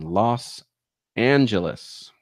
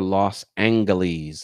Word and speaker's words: Los Angeles: driveway is located in Los Angeles or Los angle ease as people like to mispronounce it on purpose for fun okay um playlists do